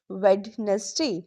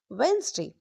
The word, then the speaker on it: Wednesday: Don't say wness day. Say Wednesday. Wednesday.